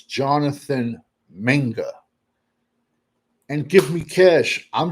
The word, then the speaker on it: Mingo: It you got to pronounce it right. Mingo's name is Minga. It's Jonathan Minga.